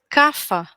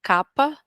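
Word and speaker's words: Kapha: sol por outro lado cafa ou capa existem as duas pronúncias dependendo da região em que é falado mas é aceitável aqui para nós cafa ou capa é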